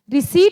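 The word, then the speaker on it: receipt: होता है और रिसी ये रिसीप्ट नहीं है ये रिसी है पी साइलेंट होता है ओके और रेसिप प्रोकल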